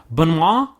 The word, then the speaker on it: Benoit: Benoit, it's like a B, Benoit? like a soft U instead of an E.